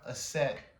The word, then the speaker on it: Aset: Asar, Aset, and Heru.